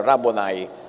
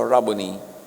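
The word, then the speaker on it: Rabboni: Yung mga Amerikano sasabi nila, "Rabonai." Pero that's an Americanized pronunciation. A Hebrew word. Walang long eye. So Rubony.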